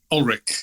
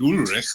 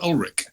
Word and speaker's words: Ulrich: Is it Ulrich or Ulrich? Ulrich. You were right the first time. Well, it's my grandfather pronounced it Ulrich because he was from Germany, and my family always pronounced it Ulrich ever since.